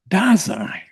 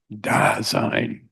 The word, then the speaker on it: Dasein: But of what are we speaking when he used this term, Dasein? Boss used to call it Dasein. Dasein. Yes, he loved that word. And he pronounced it in this way.